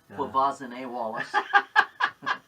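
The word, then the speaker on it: Quvenzhané: Yeah, Gavazne Wallace. I had to commit that pronunciation to memory that year.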